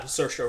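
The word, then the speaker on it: Saoirse: use is sersa ronin looking at her name I can see how you get sersa from it but I would have never pronounced that uh sersha Ronin but you know it it that's how you properly pronounce it so it's just one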